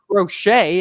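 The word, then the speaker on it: Crochet: thing with the white socks you've got Garrett rochet as we just recently learned it's properly pronounced who is a currently a Sai Young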